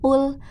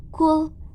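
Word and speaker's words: قل: Qul, nah qul seharusnya qul, tapi rekan-rekan membacanya kul.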